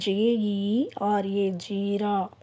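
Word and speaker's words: जीरा: ஜீரா ஹிந்தியில் அது எப்படி ப்ரொனவுன்ஸ் பண்ணுறதுன்னா JERA, ஜீரா.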